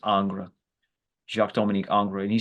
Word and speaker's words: Ingres: component of our meeting today, which included a quote from Ingres, sometimes called Ang, but I think it's properly pronounced as Ingres, Jacques-Dominique Ingres.